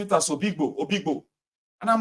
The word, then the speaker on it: Obigbo: started pronouncing it as Obigbo. And I'm like, but they are writing Oyigbo. They said, no, it's Obigbo.